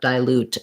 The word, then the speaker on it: dilute: back to you but what i'm seeing is that they're saying uh dilute as having that i um the i sound rather than the if sound um even though it's stressed on loot dilute diluted